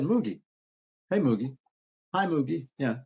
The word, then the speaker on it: Moogie: Moogie.